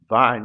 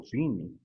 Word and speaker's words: Vine: A palavra mundo, segundo o dicionário Vine ou Vini, dependendo da pronúncia que vocês gostam, da CPAD, a palavra mundo significa cosmos em grego.